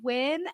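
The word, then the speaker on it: Nguyễn: He was like, it's actually pronounced Win.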